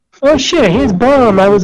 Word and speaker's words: BOM: I should write bomb. Yeah, B-O-M. That's bomb. That's bomb. The other B is silent, so why not?